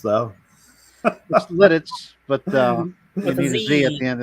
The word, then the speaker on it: Lititz: he spelled that right now that's how it's pronounced though that's Lititz but um at the end of that word